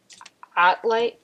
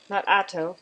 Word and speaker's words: Ottlight: This is an Ottlight, O-T-T, not Otto, like would rhyme with Noto, but an Ottlight, and it heats.